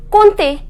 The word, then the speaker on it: compter: We neither pronounce M nor P. The pronunciation is compter.